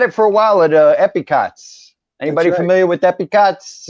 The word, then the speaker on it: Epcot: back to Epcot because I say it right epic aughts July 15 and Hollywood